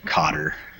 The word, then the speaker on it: Qatar: I think they pronounce it Cotter.